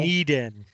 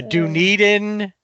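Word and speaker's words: Dunedin: Duneden is how you say Dunen.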